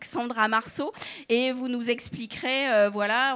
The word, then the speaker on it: Marcaud: Sophie Marceau, Sandra Marceau, ça s'écrit MARCAUD, donc ce n'est pas pareil, donc Sandra Marceau, et vous nous expliquerez